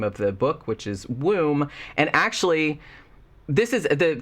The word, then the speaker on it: Woom: the book which is womb and actually this is the title is actually kind of genius because it's spelled w-o-o-m like it's room but with a w but then it you